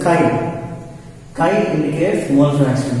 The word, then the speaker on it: chi: It's like X, but it's not X. See, pronunciation of the symbol is chi.